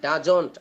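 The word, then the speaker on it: does: আরেকটা বিষয় হচ্ছে হ্যাঁ, ডাজন্ট, আমরা ডাজন্ট বা ডাজেন্ট যেটা বলি, এটা জ উচ্চারণ না হয় আমরা জ বলবো।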